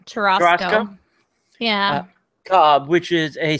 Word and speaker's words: churrasco: Churrasco? It's like a churro and a Costco. Churrasco.